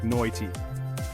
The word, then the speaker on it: night: The I in night sounds more like noity, and mate gets stretched into my tea.